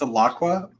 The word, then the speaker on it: Alaqua: It's Alaqua. Alaqua. I've always pronounced it Alaqua, like Alaqua.